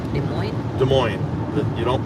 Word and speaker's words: Des Moines: it's a french name you don't pronounce the s is silent so this is des moines it's like illinois it's